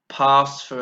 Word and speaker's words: pass for: the notice here that the stress goes on the first syllable and because of that